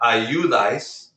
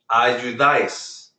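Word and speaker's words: ayudáis: So this word is not ayudais, it's ayudais. By the way, the AI right here is 1 syllable.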